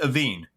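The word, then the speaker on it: Aoibhinn: And it's And they pronounce it Aveen.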